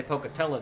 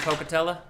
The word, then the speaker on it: Pocatello: know with Idaho Falls you're not saying it right if you don't say Pocatello though isn't it I don't isn't it Pocatello almost like Pavilion you know to